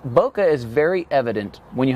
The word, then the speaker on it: bokeh: bokeh, but bokeh I believe is the correct pronunciation. Bokeh is very evident when you have a very shallow depth of field.